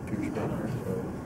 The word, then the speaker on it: Pierschbacher: Did they pronounce it correctly? Yeah, I think Eli Gold corrected him and said Pierschbacher, so that would be a first if he said it.